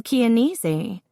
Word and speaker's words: Chianese: "Gail Chianese." "Rhymes with easy," one of her friends murmured, and the 3 of them all laughed.